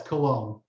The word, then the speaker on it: Colon: Yes, Cologne. Cologne. I want to make sure I'm pronouncing that correct.